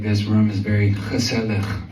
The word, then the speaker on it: gezellig: I promise I pronounced this right, but I'm feeling like this room is very gezellig right now. One more time, gezellig.